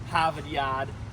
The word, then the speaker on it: Harvard: And so um so that's that's that's why I'm not sure it's spelled that way, but it isn't it's spelled of course with Rs instead of H's. And so yeah, so we're now in Harvard Yard or Havad.